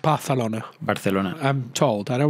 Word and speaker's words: Barcelona: And it's pronounced Barcelona. Barcelona. I'm told. I don't want to correct you here, but you have to put the lisp in, right?